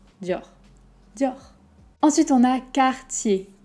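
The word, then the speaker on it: Cartier: dior ensuite on a quartier car tu y es quartier un peu la même idée que dior le r va pas être très fort on va pas dire car tu y es ok juste car tiékar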